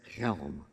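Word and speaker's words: Chelm: the village known as Helm. Everyone, yeah, there we go, Helm. Everybody say Helm? Helm. You can say it with feeling. Ready? Helm. With your throat. Helm. Like you're clearing your throat.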